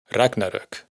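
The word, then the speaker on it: Ragnarök: aparece en la palabra Ragnarok, que como ahora ya sabemos se pronuncia con el acento en la primera sílaba, ragnarok.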